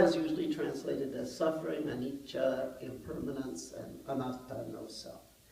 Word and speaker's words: anicca: to actually learn the PO uh so uh anicha most of you know that can you say it an du right k k this is the poly pronunciation so duka is usually translated as suffering anicha impermanence and anata no self these are the